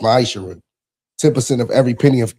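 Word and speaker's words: מעשר: 3 8-10 means 10th in Hebrew and is pronounced maisher 10% of every penny of any increase the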